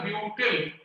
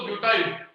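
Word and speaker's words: butyl: तो देखो इस मूलक का नाम हो गया ब्यूटिल, यानी इंग्लिश में बोले तो ब्यूटाइल। सिर्फ प्रोनाउंसिएशन में अंतर है, आप हिंदी में इसको ब्यूटिल बोलते हो और इंग्लिश में बोल दिया जाता है ब्यूटाइल।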